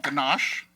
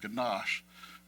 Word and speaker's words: ganache: say the word gash it is mandatory to stretch out the sh sound at the end of the word the phonetic pronunciation of ganash sounds like Niagara Falls and then there's the